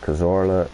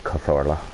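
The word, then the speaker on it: Cazorla: is good to see kazora starting to go down is finishing s kazor and need start saying korla cuz that's how you pronounce it but Santi catha does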